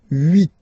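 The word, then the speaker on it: huit: Then here final t is pronounced. So root remember in French this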